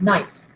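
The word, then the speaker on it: gneiss: know it doesn't this is literally pronounced nice the g is silent but you can see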